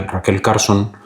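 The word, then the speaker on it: Rachel Carson: E hay una e hay una escritora en Russell Carson, Raquel Carson, mejor dicho, se pronuncia Raquel Carson, aunque se escribe Rachel, eh, Raquel Raquel Carson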